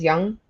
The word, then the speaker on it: Young: So, when Josh Young, I think is how you say his last name. Yeah. Right. Is Young, not Jung.